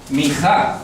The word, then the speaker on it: Mijá: Para el latino, Mijá, con tilde en la A, ¿cierto?